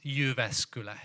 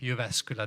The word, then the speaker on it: Jyväskylä: Middle Finland, in the also very hard to pronounce the name of my place. It's Jyväskylä. Jyväskylä, that's the name of the place.